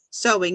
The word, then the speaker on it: sewing: Okay, so sewing. Yes, that's the right way to say it. Sewing, even though it's spelled S-E-W, you say an O, sewing.